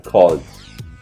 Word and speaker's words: called: clase, called, pero recuerden, con esta regla decimos que esta pronunciación debe ser de D, no de ed, ¿ok? Entonces, call, que en pasado es called, called, se debe pronunciar called, ¿ok? Con una D al final.